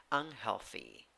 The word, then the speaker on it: unhealthy: 9 letters, 8 sounds, 3 syllables, 3 syllables. The second syllable has the primary stress. The first syllable has the secondary stress. In the first syllable, neutral. Second syllable, e. Third syllable, e with a hat. Pronunciation, e.